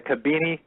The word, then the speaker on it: Khibiny: So if anyone's taking notes, that's spelled Khibiny, the Kabini technology.